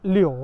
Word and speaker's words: 柳: 感，这个柳啊，可能是因为这个发音是这个柳啊，停留的留，留下来的留，所以过